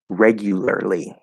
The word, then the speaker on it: regularly: The way it's supposed to be fully pronounced would be um, regularly. So it's already a difficult word to begin with. Regu, so like Q, Gu with a G sound. Regularly. That's the way that I would fully pronounce it.